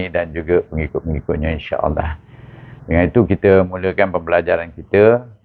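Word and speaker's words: الله: di baris atas maka kita baca Allah Tentukan bunyi Allah itu tepat yaitu hukum bacanya dengan tebal dua harakat Allah itu jadi kalau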